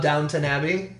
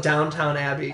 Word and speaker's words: Downton Abbey: I call it Downtown Abbey. Always! And it's my favorite show. Because I lock something in my brain, I say it wrong the rest of my life.